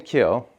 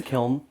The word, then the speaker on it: kiln: Speaking of, so I've been saying kill and not pronouncing the N. It sounds like some of you pronounce the N. What's what's appropriate? What is It's a kiln.